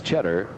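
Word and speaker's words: Tschetter: He pronounces his name the same as the cheese, but it is not spelled the same. It's Cheddar, T-S-C-H-E-T-T-E-R. Children Janelle, Terry, and Caroline.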